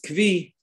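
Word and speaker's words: כוי: So if he made all his animals hektish, both wild and domesticated, that means he also is makdish a koi. Some pronounce it as kvi, right?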